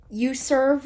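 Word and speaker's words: uZurv: available for Android or not but it's called you serve ride 1443 59 left meeting it's spelled u z as in zero U RV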